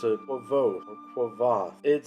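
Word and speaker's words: Kvothe: pronounce it Quoth or Quoth. It says in the book that you're supposed to pronounce his name like the word Quoth, but with a V in it.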